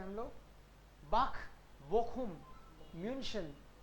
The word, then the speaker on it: München: म्यूनशन. München. Sure. Okay. Okay. Mu. Again half mu. München. SCH का rule और देखते हैं हम लोग. बाख, बोखुम, म्यूनशन.